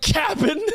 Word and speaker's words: Cap'n: The fact you said it right, Cap'n, not Captain, you said Cap'n Crunch.